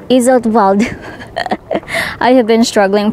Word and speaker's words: Iseltwald: it here in isal so the W you have to pronounce it letter V so instead of saying Isel iswald it's iswald I have been struggling